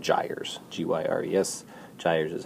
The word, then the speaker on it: gyres: These system of rotating currents are called gyres, G-Y-R-E-S.